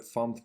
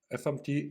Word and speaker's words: fmt: First of all, FMT is short from format, but a significant amount of people pronounce it as FAMT.